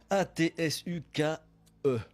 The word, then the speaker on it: Atsukè: Ça s'écrit comment, Damien Bousson, Atsuke? A-T-S-U-K-E.